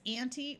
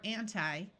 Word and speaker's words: anti: These two prefixes can be pronounced with either a long E sound or a long I sound. So you could say this as anti or anti, semi or semi.